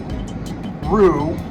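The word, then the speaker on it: roux: little background information on Rue Rue is spelled r o u x not like as an a hippity hop r kangaroo no r o ux if anything there's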